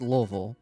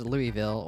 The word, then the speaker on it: Louisville: It's pronounced Louisville. It's based off of the city in Kentucky, Louisville, Kentucky. It's not pronounced Louisville or Louisville.